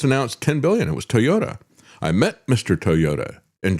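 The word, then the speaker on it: Toyoda: Toyota, and actually in English, his name is spelled with a D instead of a T. It's not Toyota, it's Toyota.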